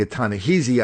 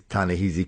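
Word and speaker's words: Ta-Nehisi: huh yeah yeah yeah I was pronouncing a ton of heezy I heard people on NPR pronounce it kind of easy but the guy from the Atlantic were Tana he's Tana heezy Coates reminded me it's Tana ah see so we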